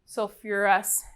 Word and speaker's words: sulfurous: to replace the ite remember sulfur and phosphorus have that extra pronunciation syllable syllable so this will be sulfurous acid with um phosphate it